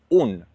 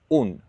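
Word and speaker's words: unë: Remember for I in Albania, you're going to say un the e with two dots, it's always silent when you speak Albanian.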